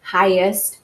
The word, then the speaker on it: highest: well and then also the gh like in the word highest or fighter or mighty right you don't hear the G um and that makes